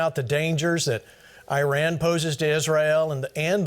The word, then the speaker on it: Iran: right now I real or Iran it's pronounced Iran I'm sorry I really